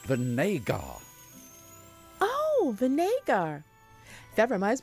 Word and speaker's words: Vinegar: vinegar it's pronounced Vinay gah Oh Vinay gar that reminds me I've got to go to tarjay this afternoon God mr.